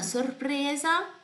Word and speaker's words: sorpresa: Una sorpresa. Due sorprese. Angela, esses R's aqui tão difíceis para pronunciar, hein? Então, separa. Sorpresa. Sorpresa. Sorpresa. Certo? Separa e depois une tudo devagarzinho.